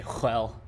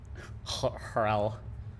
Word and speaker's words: RHEL: The H is silent. Unless you're from Texas, and then I guess you can say RHEL. RHEL.